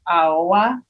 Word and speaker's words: Aoua: You're not that far off. It's a little bit like I listened to it a couple times. It's a little bit harder on the O, like Aoua, like yeah.